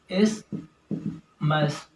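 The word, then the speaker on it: isthmus: और ये जो दोनों लोब होते हैं, इनके दोनों लोब्स वो कनेक्टेड होते हैं एक स्ट्रक्चर से जिसको हम इस्मस कहते हैं। इस्मस, टीएच साइलेंट है।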